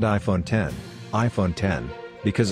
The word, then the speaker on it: X: iPhone X, EXE pronounced 10, where X is not a letter but rather 10 according to the Roman numerical drawing, is a smartphone designed,